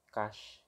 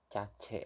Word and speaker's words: cache: Tulisannya C A C H E ya. Kalau gua ngambil dari Google Translate itu pengucapannya cash gitu. Cuman enaknya sih bilangnya NIID cace aja ya. Pakai spelling Indonesia gitu.